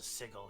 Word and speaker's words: sigil: Actually, there's a sigil here. It's pronounced sigil. The I mark, pronounce it sigil. I pronounce it sigil.